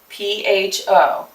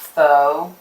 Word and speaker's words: pho: And I really like it in pho, for one thing. P-H-O. It's not pho. Please don't say it like that. It's pho, and it is really quite